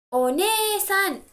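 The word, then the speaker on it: お姉さん: One-san is older sister, but somebody else. Somebody else, older sister is one-san. Just like we stress the syllable ni over here we stress the syllable ne. Younger brother, while talking about my family, is ototo.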